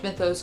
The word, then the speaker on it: Mythos: By the way, I really do think in my heart of hearts it's pronounced Mythos, not Mythos. I asked on my Instagram story and the entire Greek diaspora DM'd me to tell me it was indeed pronounced Mythos in Greek, but at the same